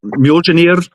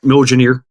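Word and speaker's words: Mjölnir: it moner's wrath uh well I I pronounce it as Muer which is the Muer that's the correct Old Norse pronunciation but you can call it milaner basically it's a uh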